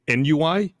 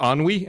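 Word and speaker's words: ennui: I believe it's pronounced ani. And she's like no it's nui. And Frank's like no it's a French word.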